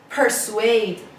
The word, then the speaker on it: persuade: so this pair swayed two syllables and the stress is on the second syllable persuade persuade person ID means